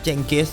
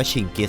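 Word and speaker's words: Чингис: แหละ นะ ครับ โดย เจงกิ เรา อาจ จะ อ่าน ใน ภาษา อังกฤษ ว่า เจงกิ แต่ ถ้า ไป อ่าน ใน ภาษา มองโกล จริง ๆ เนี่ย จะ อ่าน ว่า ชิกิ นั่น เอง เขา ก็ เลย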